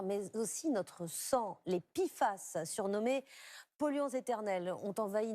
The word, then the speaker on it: PFAS: PFAS est l'acronyme anglais pour substances per- et polyfluoroalkylées, et ça se prononce PFAS.